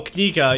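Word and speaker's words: книга: Oh, Kniga, yeah.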